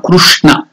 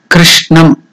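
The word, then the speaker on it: कृष्णम्: And there Krishna also is not Krishna or Krushna. It is Kr in between. Kru and Kri. It is Kr. Krishnam.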